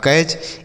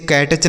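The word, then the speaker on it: catch: जैसे सी ए टी सी एच तो क्या पढ़ेंगे? तो सी ए से बच्चों इसे कै पढ़ेंगे और टी सी एच को हमने च बता दिया तो यह लिखा आपका कैच। इसे कैटच नहीं पढ़ा जाएगा। कै टच ऐसा गलत उच्चारण है।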